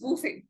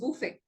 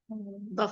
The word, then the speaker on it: buffet: aware of the right pronunciation so the right pronunciation is bof the right pronunciation is bof many people how do they pronounce it buff I hear many people pronouncing it yes Buffet